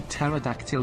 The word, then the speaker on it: pterodactyl: can't you hear a pterodactyl go to the bathroom because the p is silent yes hello topka how